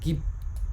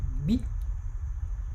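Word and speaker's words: gb: It is not pronounced gib. No, don't say gib. No, don't say gib. It's pronounced together. B.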